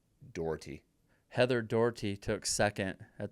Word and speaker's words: Doherty: Heather Daughtry, second place at Wasatch in 2023. Doherty? I went with Daughtry like the singer, but I think I said it wrong. If it's spelled right, Doherty.